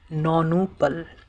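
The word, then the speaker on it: nonuple: नौनू पल। इसकी अंग्रे इसकी स्पेलिंग है एन ओ एन यू पी एल ई नोनपल।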